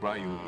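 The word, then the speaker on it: Ryu: Rayu in English and do in Japanese.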